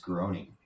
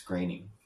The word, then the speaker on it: Groening: Um, I always thought it's pronounced groaning, but I found out it's graining.